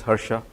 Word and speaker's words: Harsha: who am I uh my name is Hara you pronounce it as Hera uh is my